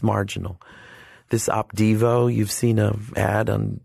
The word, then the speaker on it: Opdivo: This Opdivo, you've seen an ad on television for Opdivo. Did you say Devo? Opdivo.